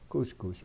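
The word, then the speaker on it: khus khus: is the cus cus it says Cusco and you pronounce it Coosh Coosh but it's not written with a cube but anyway oh okay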